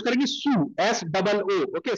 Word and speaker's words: Sioux: Okay, now यहाँ पे इसको अपन प्रोनाउंस करेंगे सू, SOO, ओके, सू।